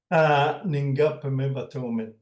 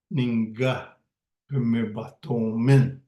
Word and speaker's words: Ninhngepihmohsaymin: The initial syllable Ninhngah indicates this will happen in the future, and the last syllable min indicates that there will be me, the speaker, and with a bunch of other people running Ninhngahpihmohsaymin.